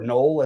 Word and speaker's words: Noel: I also think that uh taking a stab maybe on the two gamer more with Jaylen Noel I or Null as he's pron it's pronounced that's probably a good way to get different.